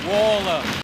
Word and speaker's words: Waller: Tim Wall. It's actually Tim Waller. Just remember Wall. Waller. Yeah. So don't worry. I made that mistake a lot. We got it. It's Waller.